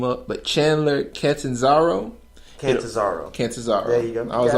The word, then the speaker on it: Chandler Catanzaro: And I know I'm about to mess his name up, but Chandler Catanzaro.